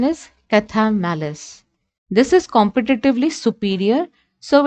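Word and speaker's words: Chthamalus: The pronunciation is Cathamalis.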